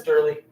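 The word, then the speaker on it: Doerle: really doesn't care uh it's d o e r l e is how you spell it but I as I I got the idea right away as soon as I saw the doe I'm like oh yeah that's derly very complicated last name I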